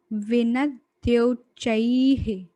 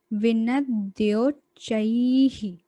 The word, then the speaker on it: विनद्योच्चैः: विनद्योच्चैः, विनद्योच्चैः। ये द्य है, द्य और आधा चा है और चा पे आई की मात्रा है प्लस विसर्ग है, इसलिए विनद्योच्चैः, विनद्योच्चैः।